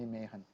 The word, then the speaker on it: Mehan: calling myself as just Mehan, all right? Prefer to be called me as Mehan, and call me one. If you want to try the Tamil pronunciation, call me Mehan, all right?